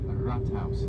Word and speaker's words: Rathaus: It's called the Rathaus, like R-A-T, spelled like rat.